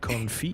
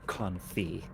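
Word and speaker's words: confit: Evan, I could make that duck conf you love so much. It's pronounced confi.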